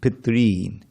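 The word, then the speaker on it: pitṝn: With a line over it, it means it's a long R. Ri, Pitrin. So that you Pitrin.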